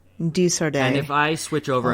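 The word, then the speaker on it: De Sardet: Desardet. Desardet.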